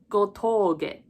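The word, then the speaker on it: 吾峠: And for this spelling, it's a little interesting because when we use the English alphabet, when we write it down, we usually put a U to emphasize that the O is a long sound. In Japanese, we usually put a line over the O to symbolize that you elongate that sound.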